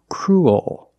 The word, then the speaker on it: cruel: So cruel. That's the dark L. Cruel. And it's not cruel. There's kind of an extra sound.